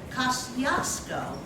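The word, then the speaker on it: Kościuszko: His name was Thaddeus Kosciuszko, one of my favorite bridges in Brooklyn, going under construction now. Anyway, Kosciuszko, which is another way to pronounce his name, he was a rebel.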